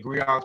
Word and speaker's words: griot: The griots, pronounced griots, have been referred to